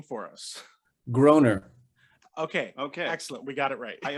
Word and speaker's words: Groener: I thought it because it was spelled like Matt Groening, that it would be pronounced Grainer.